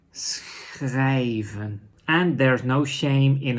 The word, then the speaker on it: schrijven: So combining those together is schr. So what are words with this sound? Like writing in Dutch is schrijven.